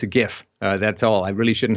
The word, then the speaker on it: GIF: So you're on Team GIF, not Team GIF? I got to tell you, because it's graphics interchange format, I got to go with the hard G.